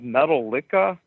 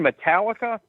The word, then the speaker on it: Metallica: I go do you have any you have metal Lia that's how I pronounce it I couldn't even say the name he goes you mean Metallica yeah that's it he goes yeah dude here